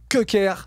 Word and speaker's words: Köker: Oumoud, en tout cas, si vous voulez aller le voir, Oumoud Köker, mais ça Mhm.